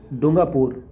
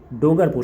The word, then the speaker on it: डूंगरपुर: District with the maximum sex ratio डूंगापुर। डूंगरपुर sorry miss pronounce हो जाएगा तो डोंट माइंड 994 और